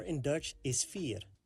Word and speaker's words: vier: 4 in Dutch is vier. The beginning is pronounced like the English letter F. And the ear sounds similar like the last part of the word volunteer. The ear sound. F and ear.